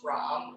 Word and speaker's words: Ram: So it's spelled R-A-M like Ram, but it's spelled like Ram. It's pronounced Ram or Ram if you want to do the tongue roll.